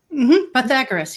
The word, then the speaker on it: Pythagoras: have to help me with this guy's name Pythagoras Pythagoras you said it right okay Pythagoras is known